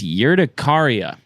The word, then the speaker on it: urticaria: I've since learned that it's urticaria. I pronounced that correctly.